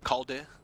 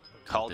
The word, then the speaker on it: Kaldi: So Kaldi goes with the Kaldi. Okay. Yeah. He told me how to pronounce it. It's like the DI at the end is not D. It's like the DI in distance. Kaldi.